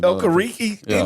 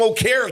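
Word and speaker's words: Okereke: yeah Bobby okar K I think it's actually okariki you can't go from o car to okari e r e k e oh car hey all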